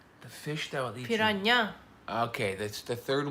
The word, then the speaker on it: piranha: Because Okay, piranha. yeah, the H at the end is a Y.